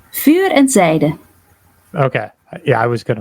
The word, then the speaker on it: Vuur & Zijde: How do you pronounce the band name? Vuur Zijde.